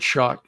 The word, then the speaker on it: Schoch: As far as Robert Schoch is how you say that.